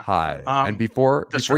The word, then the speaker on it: Baha'i: next one, I'm going to take a crack at pronouncing this, Mark, and correct me if I'm wrong. The I Baha'i will. Faith. Did I get that? Uh, Baha'i. It's close. So I was close. Baha'i. Yeah. Baha'i.